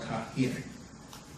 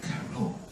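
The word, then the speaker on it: القاهرة: It's actually called Kahir. Not Cairo, Kahir.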